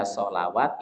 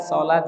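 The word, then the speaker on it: صلاة: hayawat, ini rentan dibaca sholawat, ini rentan dibaca apa? Zakawat. Ya, makanya kaidah ini yang harus kita pahami. Jadi sekali lagi kata hayat, sholat, zakat atau yang semisalnya itu tanda panjangnya bukan menggunakan alif tapi menggunakan apa?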